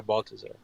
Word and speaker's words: Baltazar: Yeah, Baltazar.